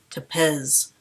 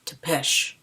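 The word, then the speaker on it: Țepeș: Number one, in Twilight, real vampires sparkle, I call Vlad the Impaler Topz when his name is pronounced Tesh.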